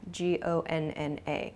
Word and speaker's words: gonna: both of these expressions going to shortens to gona g-o-n-n-a gonna i'm gonna i'm not gonna this sounds much more natural at least than american